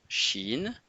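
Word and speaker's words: شين: Donc en triangle, le son chine fait le son che en français comme chat ou chaussette.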